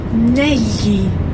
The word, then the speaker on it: negli: So that GL is the same GL that you hear in the word tagliatelle. So it's a very common sound in Italian, but in this word it's pronounced negli. Negli. It's like writing N-E-L-Y-I, if you like.